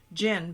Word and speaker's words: djinn: It always throws me off because it's pronounced jinn, but it's D-J-I-N-N. It's that damn D. I know. It's that silent D, like Dijon.